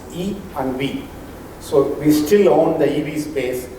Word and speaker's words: EiV: Let me introduce our platform, which is pronounced EV. EI is pronounced E and V.